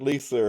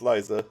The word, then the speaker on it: Liza: Oh, oh, I've been saying it wrong. Uh, yeah. So, my bad on that one. It's Liza.